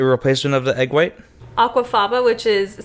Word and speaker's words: aquafaba: So like the fact that they're able to put aquafaba, I said it right?